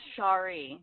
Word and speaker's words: Sherri: And it's pronounced Shari.